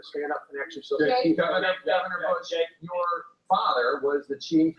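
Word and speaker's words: Busch: My last name is pronounced Bush. It's spelled B-U-S-C-H, like beer.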